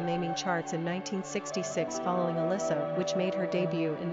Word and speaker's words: Alissa: Quick facts on Alissa. Gender, girl. Origin, English. Number of syllables, 3.